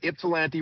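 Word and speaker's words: Ypsilanti: We've got ipsilante rather than gifsanti.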